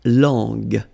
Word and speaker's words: langue: Okay, so you get to put this U between the two to get the sound G, G. So you get la langue, langue.